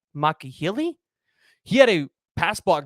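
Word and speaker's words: Alani Makihele: Or you could look at the guy from UNLV, Alani, and I believe it's pronounced Makahili.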